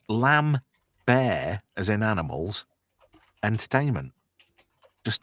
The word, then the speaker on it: Lambert: wrong as well cuz everybody was saying Christopher Lambert, but it's actually Lambbear. Lambbear. So in the sequel, he fronted some money up for the production of the movie and it says Lambbear as in animals entertainment